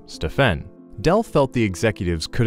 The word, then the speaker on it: Stephen: says Del, when one of the Nike executives pronounced his son's name Stefan instead of the correct name Stephen.